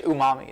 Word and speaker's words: umami: It's like uni. I don't know how to pronounce it. No I think it's umami is what it's called.